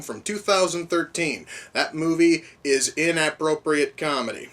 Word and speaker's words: InAPPropriate Comedy: That movie is InAPPropriate Comedy. No, I am not pronouncing that wrong. For whatever reason, there's a lot of emphasis on the word app in the word inappropriate.